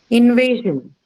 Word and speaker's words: invasion: Okay, noun, first syllable. Invasion.